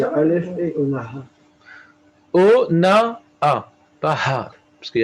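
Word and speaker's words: אונאה: O-na-a. Pas Ha. Parce qu'il y a Aleph. O-na-a. Le He de la fin, on ne le prononce pas.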